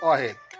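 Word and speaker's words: واحد: 1, আরবিতে উচ্চারণ হবে ওয়াহেদ।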